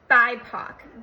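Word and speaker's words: BIPOC: at the definition of bipo b p c and I want to read it to you because I can't remember black indigenous and people of color it's pronounced bipo bipo is used to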